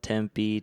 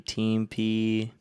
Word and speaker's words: Tempe: Like I used to call Tempe, Teampe.